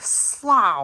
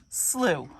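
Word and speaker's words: slough: when you look at the word you think slow or something it's not it's actually pronounced slew so there's your nature nerdy lesson of the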